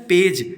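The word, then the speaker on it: page: जी के बाद साथियों अगर जी के बाद ए हो तो जे का उच्चारण किया जाता है ठीक है जैसे आप देखते हैं यहां पे ये जी के बाद क्या मिल गया ए मिल गया इसलिए इसका उच्चारण क्या हो गया पेज ठीक है ये जो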